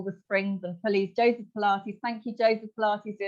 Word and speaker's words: Pilates: Pilots. Steve Wright used to say plates. You can do some plates. Pilots. It's Pilates.